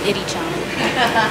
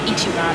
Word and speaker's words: Ichiran: Yeah, Ichiran. No, Ichiran. I've been saying it wrong.